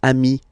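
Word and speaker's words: amis: Plural form, you add this s, but it's amii as well.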